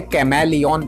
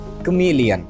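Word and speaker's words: chameleon: आसान नहीं होता है बहुत सारे लोग इसे कैमरा लियोन पड़ते हैं तो कुछ लोग इसे केम एलियन पढ़ते हैं पढ़ते correct pronunciation of this verse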